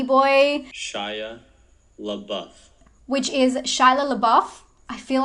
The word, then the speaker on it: Shia LaBeouf: Which is Shia LaBeouf. I feel like I always say his name wrong.